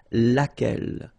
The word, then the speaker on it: laquelle: And then the feminine form, so singular, we saw it laquelle, okay? So basically same rule, Q-U, U is not pronounced here. And then you get this E-double-L-E, well, phonetically here, it is the same as what we have here.